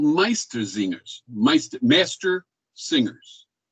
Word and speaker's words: Meistersinger: and they were called meistersingers meister master singers master singer meister zinger that's the german han socks is the